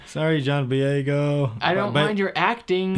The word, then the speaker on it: Boyega: Sorry, John Boyega. I don't mind your acting in other movies. Sorry, I butchered your name. Boyega.